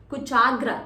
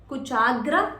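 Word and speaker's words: कुचाग्र: Kuchagra, cha extension. Kuchagra Chitra Patraka. Yes, see, it's not a stretch, it's an extension.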